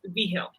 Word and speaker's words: Vigil: So the G is like, it's Spanish. Okay. The G is like an H, so it's Vigil.